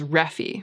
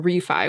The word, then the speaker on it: Refy: r-e-f-y immediately it registers in the brain as reffy and it's taken it's been like a training an intensive training regimen to get myself to start saying refi which is apparently how it's pronounced so i'm